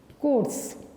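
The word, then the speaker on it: Corps: Royal army medical कॉर्प्स, royal army medical कोर्स, P silent है, कोर्स पढ़ा जाएगा, ठीक है ना।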